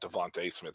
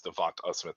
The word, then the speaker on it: DeVonta: It's not Devontae Smith. It's Devonta Smith at the end.